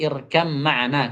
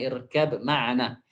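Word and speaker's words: ارْكَب مَّعَنَا: Pengucapannya berubah menjadi irkam ma'ana, kata beliau, bukan irkab ma'ana.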